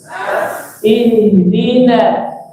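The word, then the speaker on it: اهدنا: Ihdina. Nas. Jadi bukan nos. Ihdinos, bukan nos. Nahnya tebel. Nahnya tipis. Ihdina.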